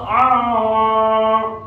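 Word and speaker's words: العالمين: Nah di situ ada ain, ya. Pakai ain ya, jangan pakai alif. Kebanyakan yang mungkin masih awam gitu membacanya pakai alif gitu atau pakai hamzah gitu ya. Itu kurang sempurna bacaannya. Jadi harusnya pakai ain ya. Saya ulangi. Alhamdulillahi rabbil alamin. Nah, a-nya juga panjang ya.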